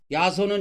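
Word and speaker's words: 耶蘇: 이 야소가 중국어로 예수님을 표현할 때 야소 하는데 이게 중국 발음으로 보면 예수 이렇게 발음이 되나 봐요. 근데 우리나라식으로 읽을 때는 이게 야소입니다.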